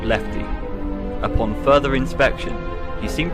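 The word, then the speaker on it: LEFTE: blueprints were discovered and one was titled l-e-f-t-e pronouncing lefty the letters stand for lure encapsulate fuse transport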